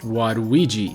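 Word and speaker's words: ワルイージ: wadui which means bad this works even better with waluigi which is pronounced waduiji in japanese so who is the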